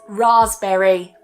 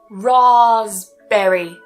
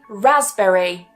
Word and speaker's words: raspberry: And another one we have is raspberry. Rasberry. So we don't pronounce the P, remember it's silent. We can also say raspberry. Raspberry. So that first vowel can change.